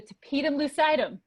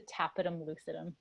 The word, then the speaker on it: tapetum lucidum: So some people say it's the Tapetum Lucidum. Some people say it's the Tapetum Lucidum. We're gonna go with Tapetum Lucidum today because that's how I'm feeling.